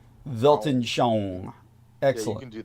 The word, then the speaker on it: Weltanschauung: worldview, is Weltanschauung.